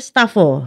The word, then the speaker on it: Stafo: ini itu judulnya e dibacanya apaya stafo Jadi dibacanya stafo Iya ada ideologi tertentuah